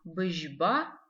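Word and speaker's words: быжьба: Обратите внимание на букву «ы» в этом слове. Мы ее как будто бы не читаем. Мы ее читаем, но она очень мягко читается.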